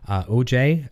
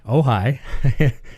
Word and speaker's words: Ojai: But you can't see it inside there right now, but I mentioned I'm using the Strymon OJ. No, I said it wrong. Ojai. It looks like OJ.